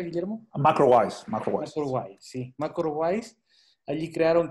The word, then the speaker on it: MacroWise: ¿Cómo se pronuncia, Guillermo? MacroWise.